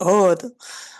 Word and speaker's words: Aude: Oui, mon prénom, par exemple, c'est pas Aude, Ah, c'est Aude. Aude, O est différent, ça me dit Aude, c'est ça. A-O, Aude. Là, on a la bonne sonorité.